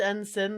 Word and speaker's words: ensign: It's pronounced ensign, the G is silent.